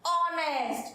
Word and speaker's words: honest: Next honest, here also h silent, so what we pronounce honest.